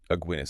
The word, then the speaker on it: Aguinis: Aguinis. Aguinis rhymes with beer.